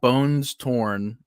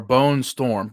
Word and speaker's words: Bone Storm: So we got Bones Torn. Or Bone Storm. I don't know why I'm saying Bones Torn. Yeah, Bones Torn. Bone Storm. But it's not spaced. So can you blame me for not pronouncing it right?